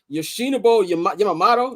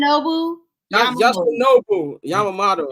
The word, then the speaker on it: Yoshinobu Yamamoto: Yoshinobu Yamamoto. That's how you pronounce his first name? Yoshinobu Yamamoto.